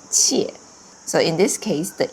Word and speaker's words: 切: But now it pronounced differently. It's with the fourth tone, 切.